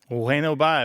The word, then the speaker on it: bueno bye: Bueno bye, right? Bueno bye? So it's bueno bye with the B barely pronounced, right? Pronounced like a W? Yep, exactly. Bueno bye. And it's all one word, bueno bye.